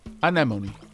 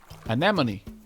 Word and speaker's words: anemone: afferent uh afronomy really do you pronounce the e is it animony or animone the enemy of my animoon is my afranimo ah me anemone anemone thank you very much j2